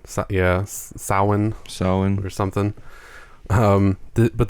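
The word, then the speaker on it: Samhain: day is here Halloween and spelled Sam hay pronounced soen yeah sin sin or something um but the day is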